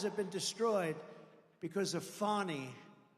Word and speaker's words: Fani: Many, many people, their lives have been destroyed because of Fani, F-A-N-I, Fani. You have to pronounce it Fani. It's called Fanny. You have to pronounce Fani.